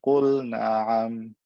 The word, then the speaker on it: قل نعم: Pronounce the L clearly, there's no reason to do idgham here.